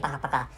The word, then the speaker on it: пока: so and this is this Russian language is pronounced Putin Paka so that's it thank you very much for